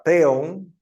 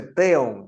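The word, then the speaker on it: θεόν: el otro no dice teon Ah Porque esa V es una n en realidad no transitándolo ver que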